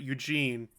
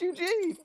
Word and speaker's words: Eugen: Yeah, well, I'm Or gonna as I mispronounce call it, I for the longest time, I called it Eugene. Prince Eugene. No, because that's how you spell Eugene!